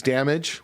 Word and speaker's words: Damag3: Um, the the artist name is Damage with a three on the end.